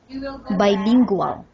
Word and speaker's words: bilingual: some words bilingual, because there are still some of pronunciation slips like L sound and R sound. So wrote, say for example, wrote. Wrote? Bilingual. Bilingual. Lingual. Wow. L sound is that is the sound of L.